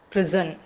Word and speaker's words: prison: Um that's how it's pronounced and prison is I mean it's not I'm I'm using the S sound but it's actually prison. So it is Z.